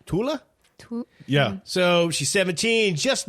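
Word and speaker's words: Thale: her name right uh it's t-h-a-l-e and I think they were saying uh Tula yeah so she's 17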